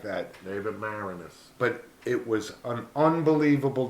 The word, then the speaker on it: Maraniss: and I could never remember exactly how to pronounce it Dave manassas Moranis something like that David Maraniss but it was an unbelievable documentary this guy